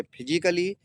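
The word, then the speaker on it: physically: अगला मीनिंग है फिजिकली। यहां भी ए का प्रोनाउंस नहीं होगा।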